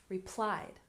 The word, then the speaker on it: replied: syllable grandparents grandparents and replied has stress on the second syllable replied replied good so now